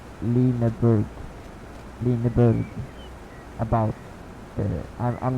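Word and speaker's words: Lüneburg: to Lixelect, because actually a U with the dots on top of it, above it, you pronounce that as Y. Well, not Y, but E in Swedish. But this is German, so that would be Lineburg.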